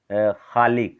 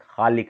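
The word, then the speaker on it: ख़ालिक: ठीक है ना, इस तरह से ख में भी इसका उच्चारण जो है कि खालिक, खालिक ऐसे बोलते हैं, जिसका उच्चारण थोड़ा सा दूसरे ढंग का होता है।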